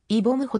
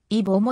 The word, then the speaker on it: 이범호: ことがあるまた名前を一文字ずつ区切って正式に発音するとイボムホとなるが会話の中では区切らずに続けて発音するので音声場はイボもに聞こえるソフトバンク時代の